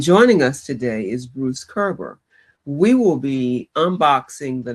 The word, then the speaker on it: Koerber: He is um you see how his name is spelled but it's pronounced Kerber. Bruce Kerber is a horiculturist/economist who lives in Cedar Rapids, Iowa.